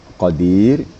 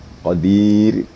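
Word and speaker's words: قدير: itu tipis atau tar kenapa Ra itu tipis atau tarq apabila sesudah apabila sebelumnya ada ya mati atau sukun kemudian apabila sebelumnya ada baris kasr ini dua di sini di dan ya diqadir Jadi waktu membaca Qadir mematikan itu bibirnya jangan diangkat ya tapi diturun bawah Qadir nah semaking ke bawah Qadir gu Iya satu yang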